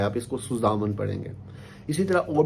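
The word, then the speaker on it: zusammen: इसी तरह बहुत से जो बच्चे हैं, वो एक वर्ड है सुजामन, इसको पढ़ते हैं जू सामन ना, क्योंकि वो इंग्लिश में हम इसको जी पढ़ते हैं, जेड को, एस को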